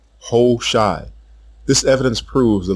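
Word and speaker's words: הושע: The king's name is pronounced Ho-Shai, not Hoshea or Hawashai. Ho-Shai.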